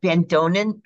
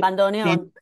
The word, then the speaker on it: bandoneon: And so instead of the bandonin, how do you say it? Bandoneon.